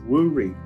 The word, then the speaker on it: Woori: in that lifetime was woori w-o-o-r-i would be how it's pronounced um and this was